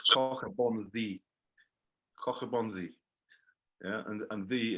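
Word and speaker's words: Coch-y-bonddu: So it's not pronounced Koch e Bondahu. No, mate, it's CH is in Welsh. Yeah. Okay, Cork- I just wanted to make sure. Cork means red. Bon is bon, as you would say, and double D is pronounced th. So it's cockabon the.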